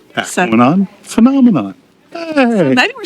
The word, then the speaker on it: Tahquamenon: We think it's Tahquamenon. And why is that? Tahquamenon rhymes with phenomenon. Tahquamenon phenomenon.